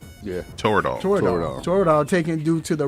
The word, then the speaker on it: Toradol: of territor am i saying it right yeah toradol jordan taken due to the risk of major